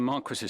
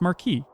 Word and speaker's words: Marquis: Unless it's like the English pronunciation of the French word.